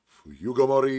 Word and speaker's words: 冬ごもり: Just 5 syllables one after the other, but with a wait. Fuyugomori. Slower at the end.